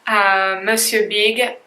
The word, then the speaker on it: Monsieur Big: This is how we pronounce it. Monsieur Big mascara, and there is only one shade as far as I know, so that's number 1.